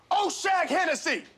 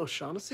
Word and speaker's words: O'Shaughnessy: I'm sure that's not how you say it. Who? Oshag Hennessy! Principal O'Shaughnessy?